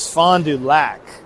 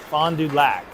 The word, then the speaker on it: Fond du Lac: It is fondu lac. The pronunciation is not lack. It is lack as in lacking.